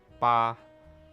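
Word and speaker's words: 八: I think ok so 8 in mandarin is pronounced ba which also rhymes with another word Fah which means fortune so I guess I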